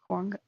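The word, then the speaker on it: Aguanga: us find a aanga I have been saying this so wrong I I feel like an idiot definitely like aanga aanga like you don't really pronounce G's here I guess this Native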